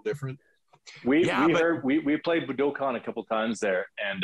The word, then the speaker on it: Budokan: so we uh and Ryan's actually pronouncing it correctly it's it's uh Budokan but for all of us you know who uh the the big album live at booticon Cheap Trick uh every